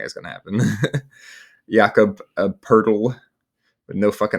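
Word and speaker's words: Poeltl: Yakob Purle with no Rs in his name, but it's pronounced Purle.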